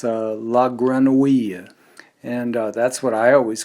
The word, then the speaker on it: La Grenouille: with me to perfect the sound that in French, modern French is spelled O-U-I-L-L-E. So we started working on the name of a wonderful New York restaurant that always has been known as La Grenouille.